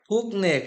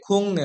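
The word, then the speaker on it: 국내: উফিয়ন ডাক নিবন্ধিত ডাক খুকনে খুকনে এটা হবে খুংনে অর্থাৎ গিয়োগটা হয়ে যাবে ইয়ং গিয়ক বা সেম এর পরে নিয়ন থাকলে গিয়োগটি ইয়ং এর মত উচ্চারণ দিবে অর্থাৎ খুন সুফু খুংনে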